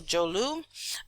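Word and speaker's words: Dzorwulu: jolu this DZ o r Wu Lu is pronounced jolu all right so jolu um you're going to see places like North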